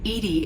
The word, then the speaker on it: EDI: have a specific inquiry why are you named edie is the phonetic pronunciation of edi that is an acronym for